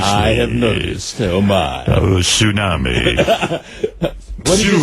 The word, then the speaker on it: tsunami: say I said tsunami did you know that it's spelled with a t tsunami T you know that yes it was a Japanese word and when they say t they mean for you to pronounce it tsunami I mean come on tsunami at least we get it right here oh and I